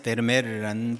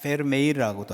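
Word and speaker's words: Vermeer: 17세기 네덜란드의 화가 중에 요하네스 베르메르라는 분이 있습니다. 페르메이르라고도 하고 양버미어라고 읽는 분도 있습니다.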